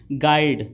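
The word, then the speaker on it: guide: Which letter is silent in गाइड, तो जो आपका यू है वह साइलेंट होता है।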